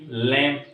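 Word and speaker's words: lamb: क्या लिखा है हमने बी खामोश है यहां पर एल ए एम बी लैम सी एल आई एम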